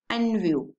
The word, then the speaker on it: NVU: इनू आप किदा प्रोनाउंस कर सकते हैं, आप इनू प्रोनाउंस करते हैं एज ए NVU, ठीक है।